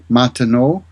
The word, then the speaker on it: Martineau: It's spelled Martin, Martin, Eneau, like water, Martineau.